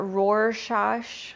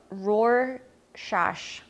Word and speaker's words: Rorschach: Rorschach. Oh my gosh, sounds like Worcestershire, but it's not. Rorschach.